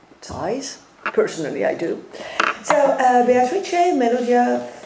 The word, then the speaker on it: Beatrice: how do you pronounce Beatrice? Beatrice. Beatrice, Melodia, and I like the Melodia. And no. It's Melodia. Melodia. Yes, and Beatrice, it's like in French it should be Beatrice. Beatrice, that's it.